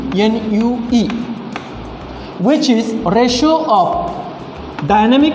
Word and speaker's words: nu: That kinematic viscosity is indicated by Greek symbol, that is called as nu, N-U-E, which is ratio of dynamic viscosity to rho. It is pronounced as M-U-E, M-U-E, mu, dynamic viscosity.